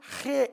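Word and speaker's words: ה: வருகிற அந்த ஐந்தாவது சொல் ஹே அந்த சொல்லை உச்சரித்து பாருங்கள் தொண்டையில் இருந்து தான் சொல்ல வேண்டும் வாயிலிருந்து சொல்ல முடியாது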